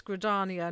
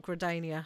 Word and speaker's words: Gridania: I it's like um it's gradania not gradania and I keep sangradania